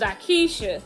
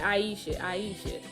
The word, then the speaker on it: Akeisha: My sister had got on me last week, y'all, because she said I said this lady name wrong. And her name is Akeisha. Akeisha. I don't know why I be saying Aisha.